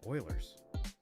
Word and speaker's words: Euler: It's so satisfying in Euler's or Euler's. I always said Oilers. That's how my professors pronounced it. Were they wrong? Have they been wrong this whole time? Definitely possible. You said it right.